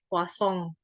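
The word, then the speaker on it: Poisson: ini Poison ini kan bacaannya kosong ya karena Poison ini sendiri adalah orang Perancis jadi namanya itu ada kosong kayak gitu ya kadang gitu sengau gitu bukan Plaza bukan plafon tapi bukan Poison juga bacanya tapi posong karena ini adalah orang ahli statistika dari Prancis kita lihat dulu abstraknya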